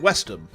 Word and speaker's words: West Ham: you take if you take the London football team West Ham right two words West and ham but you combine those together into one word you'd pronounce it westom it's like this Mish